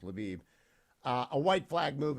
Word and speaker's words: Lviv: I can't say it it's pronounced luab it used to be now it's pronounced laiv uh a white flag